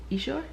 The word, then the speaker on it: Essure: a quick video about our HSG process and Essure. That's how you say it. Essure procedure.